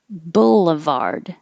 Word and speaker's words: boulevard: middle maintenance brewery brewery boulevard this bull is the same as full and pull so you don't have to think about what vowel is it um it could be an but it's not boo no matter what